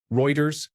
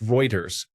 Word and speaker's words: Reuters: Reuters, the news organization. It's typically pronounced Reuters, whereas a friend of mine with the same name pronounces his name Reuter. It's also an accent thing.